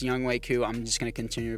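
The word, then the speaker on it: Younghoe Koo: Scott as our punter and Young Ho Koo. I know it's pronounced Young Wei Koo. I'm just going to continue to pronounce it Young Ho Koo for kicks and giggles, but why not, guys?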